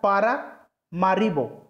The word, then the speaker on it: Paramaribo: तो यहाँ मैं लिख देता हूँ, थोड़ा सा उच्चारण में दिक्कत हो सकता है, पारामारिबो, ठीक है।